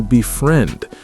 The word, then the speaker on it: befriend: It's stressed on friend. Befriend, not befriend.